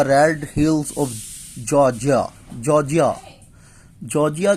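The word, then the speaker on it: Georgia: hills of जॉर्जिया जॉर्जिया जॉर्जिया कहना इसे भाई जॉर्जिया और साइलेंट कर द जॉर्जिया या जॉर्जिया ही बोल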